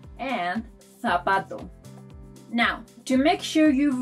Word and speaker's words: zapato: In most countries, it's pronounced like the soft version of letter C. But in Spain, this letter is pronounced th.